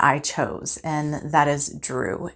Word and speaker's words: Dru: chose, and that is Drew. And Drew is spelled D-R-U. It is the root of the word druid.